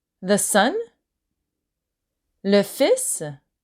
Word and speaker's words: fils: Le fils, the son. Le fils. So be careful, you don't pronounce the L in fils. So la belle-fille et le fils.